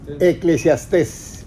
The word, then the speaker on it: Eclesiastés: Yo entiendo lo que está diciendo, pero en cómo se dice, eclesiaste, eclesiástica, eclesiastés, eclesiastés.